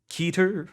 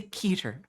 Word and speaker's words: Keter: your proposals let's go so how do you pronounce it Dr Dan asked keter or ketter I say keter replied moose and most of the higher ups I talked to say keter as well huh I swear on